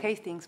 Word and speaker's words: Hastings: Hastings, se pronuncia Hastings porque es escocés.